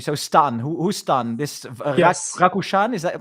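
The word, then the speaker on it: Rakušan: So Stan who stan this Rakushan is that correctly pronounced?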